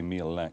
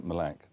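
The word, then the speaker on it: Mille Lacs: to a place called with we would say meal lack but it's they pronounced in malac and um they're they've been getting some really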